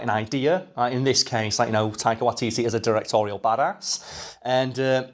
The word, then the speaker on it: Taika Waititi: A fact that can be largely attributed to one Taika Waititi, the director. Did I pronounce that correctly?